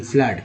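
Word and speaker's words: flood: एफ L double D फ्लड, क्या बोलते हैं फ्लड, उच्चारण डबल ओ का हुआ आ के रूप में फ्लड।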